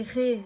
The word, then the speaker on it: Ra: Alors j'ai appelé Ré dans la méditation parce qu'il est appelé Ra, normalement, et est écrit Ra, mais c'est Ré qu'on prononce, donc c'est pour ça.